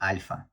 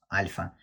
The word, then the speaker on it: alpha: Or in real life, like Russian language, we say alpha. It's L, it's very smooth, alpha. But you have to say alpha. It's hard letter.